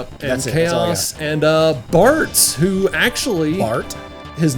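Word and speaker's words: Bartz: Bart. His name is Bart. With a Z, right? Or is it? Yes, it's with a Z. Rhymes with farts.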